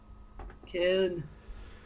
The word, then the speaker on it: Köln: Köln.